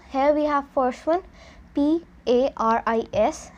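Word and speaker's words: Paris: we have first one p-a-r-i-s and it is pronounced as Pari so here we have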